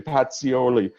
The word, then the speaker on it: Pacioli: Luca Pacioli I had had an Italian person say I have to pronounce it correctly Patsy Olli 1494 he popularized the